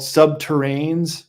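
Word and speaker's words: subterrene: these tunnel boring machines they're called subterrain rhymes with submarine and they're nuclear powered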